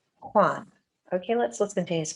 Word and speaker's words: Juan: Okay, it's spelled Juan. It's a Hispanic name and it sounds like Juan.